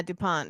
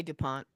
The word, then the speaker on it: Dupont: Yeah, Dupant is where we are. I don't even know how to pronounce that name. Just say Dupont.